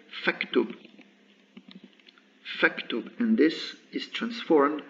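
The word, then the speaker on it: فاكتب: front of it, and I don't say fa uktub, but say faktub.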